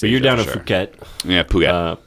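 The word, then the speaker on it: Phuket: down at puket yeah puket puket yeah you spell it P h u k e I wore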